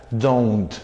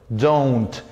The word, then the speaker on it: don't: Esa es la pronunciación, don't. You don't like English. No decimos don suena al don a un vecino, ¿verdad? Al verdulero. En este caso decimos don't con O-U, no con una O.